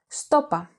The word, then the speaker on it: Σου το είπα: This can also be pronounced stopa, with the pronoun σου and the verb form είπα contracted. To further complement this variety,